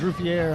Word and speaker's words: Riviere: See, I knew I was saying it right yesterday. Brad thought I was, because it says Riviere on there, but on his screen it says Ruffler. No, it's not Ruffler.